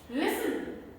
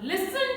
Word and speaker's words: listen: debris debris then t can also be silent when it comes with the combination of st t becomes silent listen now listen to me carefully listen